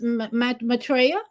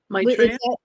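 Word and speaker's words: Maitreya: Now again, his name uh we could say his name is Matraa. Maitraa.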